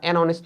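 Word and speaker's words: honest: A university R অনেস্ট ম্যান এর সামনে আবার এন বসছে।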